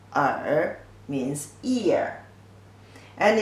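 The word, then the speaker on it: 耳: is written like this pronunciations are are certain are with your tongue slightly curved up are means ear and it's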